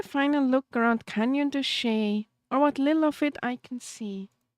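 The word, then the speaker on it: Chelly: Josh taught me how to pronounce it properly. But I forgot. Where is Mint Gelato when you need him? Shay? It was Shay.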